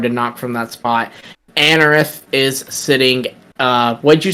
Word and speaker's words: Anorith: Is it Anorith? Is that how you say its name? Yep. Yeah. That's how I say it. Yeah, Anorith is B.